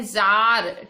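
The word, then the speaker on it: Tsar: ये है जार, T silent है, जार Nicholas II इन the white hall of winter palace.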